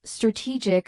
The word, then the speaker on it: strategic: Strategy stresses the beginning while strategic stresses the middle.